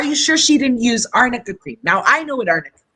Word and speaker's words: arnica: was using emma supreme it's called arnica cream not amica creek you